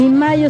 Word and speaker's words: Mallo: Les saludan Amparo e Imelda, las jilguerillas, para decirles: aquí donde canta el gallo está Laboratorios Mayo, y Mayo se escribe como gallo, LLO, Laboratorios Mayo.